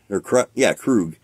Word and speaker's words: Krug: Krug. That's crazy. I said I probably pronounced it all fucked up.